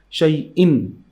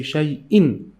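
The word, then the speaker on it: شيئا: Again, the sound of the noon in the tanween in this letter hamza, because when we stop, we pronounce this one shai-in, right? We say shai-in.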